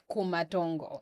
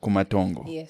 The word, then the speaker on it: Kumatongo: How do I pronounce that? Shishemo. Shishemo. Kumantongo. Kumantongo.